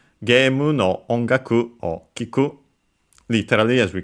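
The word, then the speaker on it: 音楽: uh and is actually sorry accented on the first syllable. So onaku uh combining the ki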